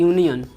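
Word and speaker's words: union: जैसे होता है यूनियन, वोवेल से शुरू है लेकिन जब इसका उच्चारण करते हैं तो आता है य, यानी कि यूनियन। क्या आ रहा है, य, तो इसके पहले क्या लगा देंगे, ए।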